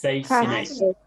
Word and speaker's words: fascinate: Fascinate. Not fay. Fascinate. It's not fay. It's fascinate.